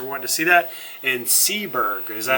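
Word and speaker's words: Seeburg: you guys are wanting to see that in seberg is that how you say it yep okay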